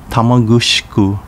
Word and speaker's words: Tamagusuku: with the merger of four towns sashki chinang tamagusuku and ozato pronounced sashi chining tamagushku and ufujatu respectively in uchinanguchi town pronounced yeyesei